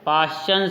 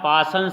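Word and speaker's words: Paschen: तीसरी जो श्रेणी है वो है पाश्चन श्रेणी या पासन श्रेणी भी कहा जाता है इंग्लिश में स्पेलिंग देख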